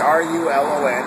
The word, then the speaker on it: Rulon: We're here at the harbor, and I've got, is it Rulon or Rulon? Let's get the spelling and the pronunciation right. It's R-U-L-O-N, and it's actually Rulon Gardner.